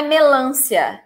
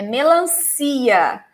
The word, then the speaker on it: melancia: atenção com a pronúncia não é melância a melancia decifrar sílaba Extra as melancias Ok no melância e deixa melancia eu sei que sem